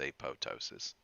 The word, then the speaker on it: apoptosis: cell death is called a PO ptosis now this word you're going to see it a lot the first P is pronounced the second P is silent like in the beginning of pterodactyl right you know pterodactyl